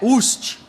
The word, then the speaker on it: Utsch: Ô, seu sobrenome é Ucht.